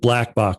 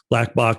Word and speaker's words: Blkbok: that Benton had with Blackbach, which by the way is spelled BLKBOK, who's just a brilliant artist.